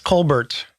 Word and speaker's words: Colbert: Yeah, Co Bear thing. Oh, it's not Co Bear. It's Colbert. Colbert. Sorry. His own family calls him Colbert. Calls calls uh pronounces their last name Colbert.